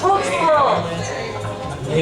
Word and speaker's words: Tewksbury: It's pronounced Tewksbury.